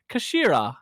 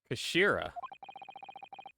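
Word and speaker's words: 頭: as it always is it's written as head in japanese but it's pronounced as kashira i believe kashira you know his words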